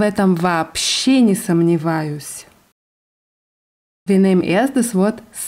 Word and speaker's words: вообще: Das wird mit zwei O's geschrieben vorne. Вообще. Aber ausgesprochen wird es вообще.